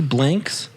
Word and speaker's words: Blanks: saying is this blinks dang i was thinking banks oh it's billy blanks that's what i'm saying dang i apologize billy